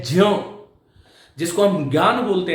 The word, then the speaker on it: ज्ञ: उच्चारण है वो है ज्ञ, जिसको हम ज्ञान बोलते हैं ना, उसका विशुद्ध उच्चारण यदि आप सुनोगे तो वो जान है।